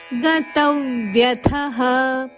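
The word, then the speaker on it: ಗತವ್ಯಥಃ: ಉದಾಸಿನೋ ಮೂರು ದೀರ್ಘ ಅಕ್ಷರಗಳು ಗತವ್ಯತಹ ಗತವ್ಯತಹ ಗತ ಮೇಲೆ ಆಘಾತ ಇದೆ ಮುಂದೆ ಬರುವ ಜೋಡಕ್ಷರ ವಕೆ ಯದ ಒತ್ತು ಗತವ್ಯತಹ ಸರ್ವಾರಂಭ ಪರಿತ್ಯಾಗಿ ಸರ್ವಾರಂಭ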